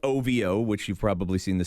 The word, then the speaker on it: OVO: OVO, spelt OVO, which you've probably seen the signs by now, but pronounced OVO.